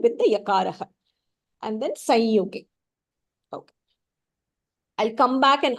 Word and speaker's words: संयुगे: Jataroshasya sanyuge. जातरोषस्य संयुगे. Together. Jataroshasya sanyuge. जातरोषस्य संयुगे. Samyuge is also correct. You can pronounce it.